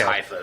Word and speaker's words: Haifa: Okay, it is Haifa then. Yeah. I had Maccabi. I knew Maccabi, and I was like, I'm not sure if it's Haifa or not.